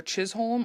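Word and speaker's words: Chisholm: saying that right um it's either chisolm or but I think it's Chism because you know h o l m is always pronounced like home instead of home home home home home home home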